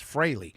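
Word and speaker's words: Frehley: Uh I I I I was going to say Freley until I listened to Mark Aaron show this morning and Deborah Green uh taught everybody how to correctly pronounce the last name. So it's Freley.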